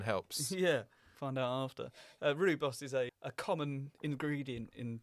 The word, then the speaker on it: rooibos: Rooibos. Oh, I see. Rooibos, South African name. Rooibos.